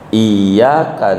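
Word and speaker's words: إياك: Kemarin ngaji Fathul Muin, Iyyaka na'budu bertasdid artinya hanya kepadamu ya Allah kami menyembah. Bila tasdidnya enggak ditarik, bacanya enggak ditekan, Iyyaka na'budu, kepada matahari kami menyembah, jadi kafir gara-gara tasdid.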